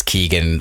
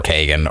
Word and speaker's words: Keoghan: literally because like it depending on where you are from in Ireland, it is Keegan or Kagan or Keoghan. Like so, take a swing, whatever. I was gonna say I've heard 3 different pronunciations, all from different people from Ireland.